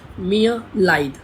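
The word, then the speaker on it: mir: टूट मियां लाइव और जर्मन में एक चीज मैं आपको बताना चाहूंगा की जर्मन में कई जगह कई जगह आर की साउंड वो हॉकी सी यह प्रोनाउंस करते हैं वो आर की साउंड कंप्लीट आर की साउंड नहीं देते हैं तो इसलिए इसको हम बोलेंगे मिया मिया एस तू मी एन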